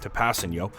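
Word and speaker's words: Kpassagnon: We have 3 offensive linemen now working on Tapasino, as I said his name wrong previously, Tapasino.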